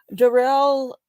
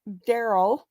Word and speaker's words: Darrell: the trial of uh Darrell Brooks Don't Call Him Daryl even though that's how it's spelled because he will object